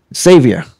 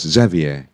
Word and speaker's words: Xavier: Tony yeah Tony Braxton savior well pretty close Xavier Xavier oh my gosh pretty close but you did well you got the exes what kind of name